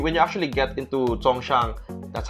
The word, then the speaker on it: Songshan: know when you when you actually get into Songshan that's how you pronounce it when you get the Hongshan that's